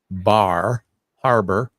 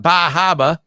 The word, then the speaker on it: Bar Harbor: Mountain that's in bar I have to say it right Bar Harbor because in this part of the country we call it bajaba but um yeah so